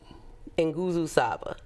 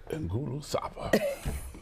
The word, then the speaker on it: Nguzo Saba: That is Nguzo Saba. Nguzo Saba. All right. Giovanni Richardson just taught me how to pronounce those words.